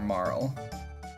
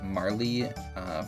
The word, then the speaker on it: Marle: Or Marl. I always pronounced it as Marl, but I keep hearing it as Marley from like commentary on speedruns and such.